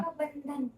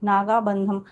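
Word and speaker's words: Nagabandham: ना बंधन बंधन नहीं है, एम है लास्ट में। बंधन। हाँ, नागाबंधम।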